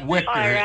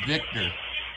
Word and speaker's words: Victor: e all right uh-huh it's not wictor it's Victor not wictor all right it's Victor all right all right